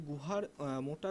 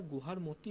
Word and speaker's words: গুহার মতি: পর্যন্ত বিস্তৃত এখানে পশ্চিমতম এখানে স্পেলিংগুলো একটু মিস্টেক আছে গুহার মোটা রয়েছে এটা গুহার মতি হতো বাংলা উচ্চারণের ক্ষেত্রে ওকে পশ্চিমতম বিন্দু হচ্ছে